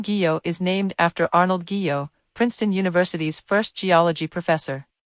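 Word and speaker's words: guyot: is named after Arnold Geo Princeton University's first geology professor it is pronounced geo with a hard G as in give Oceanic plateaus the ocean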